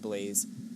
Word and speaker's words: l3layze: It is l3layze, pronounced Blaze.